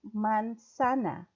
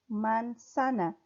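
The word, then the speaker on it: manzana: juice who go they man sana man Sanna the Z is pronounced like an S who got a man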